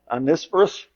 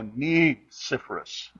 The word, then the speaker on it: Onesiphorus: I looked up how to pronounce it. It was supposed to be emphasis on knee. Oh, Neiferus.